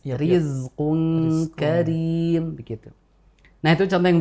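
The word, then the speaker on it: رزق كريم: rizqun Riz Ri Ri jadi kita tidak baca dengan rizqun Karim enggak gitu Oh iya iya kita baca tipis saja karena memang ini rnya kasrah dan dibacanya dengan tarqik atau tipis rizqu Karim begitu nah itu contoh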